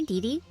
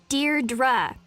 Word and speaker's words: Deirdre: Hi, Dee Dee. Deirdre. I know it's got that tricky second syllable, but I figured it out by age 2.